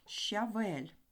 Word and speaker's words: щавель: що має один склад слова щавель щ - це два звуки ш і ч тобто у слові щавель